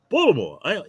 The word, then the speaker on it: Baltimore: Baltimore, Maryland. Baltimore.